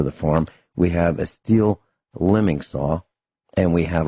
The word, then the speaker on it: Stihl: go right to the Stihl? And that's Stihl, pronounced Stihl.